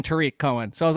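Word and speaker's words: Tarik Cohen: know this jeff when people were saying tarek cohen coming out of college i was like i'm pretty sure it's tariq and i found a video of his mom saying tariq cohen so i was like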